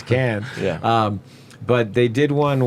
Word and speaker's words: Cannes: Cannes, right? Can.